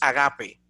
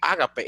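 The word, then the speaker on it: ἀγάπη: Sin embargo, de momento cuando ves en griego es agape. Entonces, en griego, la acentuación de la palabra es agape, no ágape, es decir, es grave, no es drújula como en castellano.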